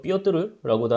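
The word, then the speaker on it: Пётр: 러시아의 이제 표트르 제대, 뭐 러시아 발음으로는 삐어뜨르라고도 하는데, 이 사람은 좀 대단한 인물이에요.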